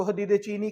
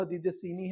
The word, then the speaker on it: حدید سینی: استعمال کیا جاتا ہے، لفظ کو حدید چینی کہہ کر پکارا جاتا ہے، لیکن اس کا صحیح جو تلفظ ہے وہ حدید سینی ہے صاد کے ساتھ، کہ وہ پتھر جو